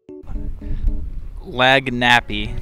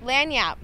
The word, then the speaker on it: lagniappe: lanyap lania lag nip it says lanya Vanya yeah lanyap lanyap what yeah like near Apple that was really bad